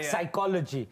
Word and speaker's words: psychology: yeah like for example words that starts with the P and the second letter in the word is an S and then you can't pronounce the pecos a P is now silent yeah yeah psychology yes